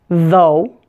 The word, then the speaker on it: though: have oh ugh Spelling's four of these words pronounced oh ugh Oh like the sound in the words show or low say them with me though although doe and burro